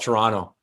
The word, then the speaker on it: Toronto: in here in Toronto, we don't we don't like pronouncing T's when they're in the middle of words. So it's we just call it Toronto. It just kind of rolls off the tongue and Toronto.